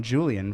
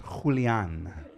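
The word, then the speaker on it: Julián: I've been calling him Julian for the last year, and it's Julian.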